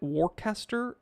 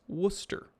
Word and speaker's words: Worcester: if anybody pronounces it warcaster or warchester you know they're not from there it's worcester okay if you're authentic if you're natively there it's worcester because you they don't pronounce the rs very well okay another reason i